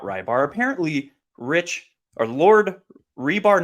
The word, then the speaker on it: Reebs: His pronunciation of his name is Lord Rebar, not Lord Rybar.